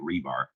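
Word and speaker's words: RBAR: that coin the term rebar and uh I realized there's no e in there but I pronounce it rebar because it reminds me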